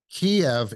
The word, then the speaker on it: Kyiv: It's always been Kiev as long as I can remember, but they started calling it Kyiv, and here's why. Kiev is the Russian pronunciation. Right. Yeah. Kyiv is the Ukrainian pronunciation.